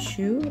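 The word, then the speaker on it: choux: a sugar tart uh shoe is how you say it like a puff I stole my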